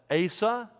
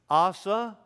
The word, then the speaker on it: Asa: by his father and you can call it ASA ASSA or as the Hebrews would say asad I'll probably go with one of all three at any time all right but that's